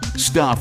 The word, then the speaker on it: Stuph: Stuff is spelled S-T-U-P-H.